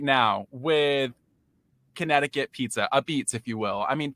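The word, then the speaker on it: apizza: Well, well, first of all, thank you for pronouncing uh it correctly, ABS. You know, that's what we're known for in New Haven.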